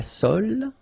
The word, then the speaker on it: sole: La sole. Same thing. Don't insist on the final E, okay? It only gives you the L sound.